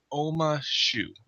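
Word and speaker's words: Ouma Shu: Oma Shu.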